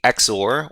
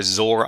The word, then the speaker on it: XOR: So today we're going to be introducing a uh an important topic for cryptography and that is the exor or zor operation depending on how you want to pronounce that.